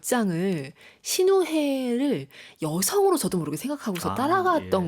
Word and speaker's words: 시누헤: 사실 이 신우회 이야기가 묘하게 이제 한글에서는 발음 잘못하면 신우이 이야기로. 네, 많이들 그렇게 농담을 그쵸?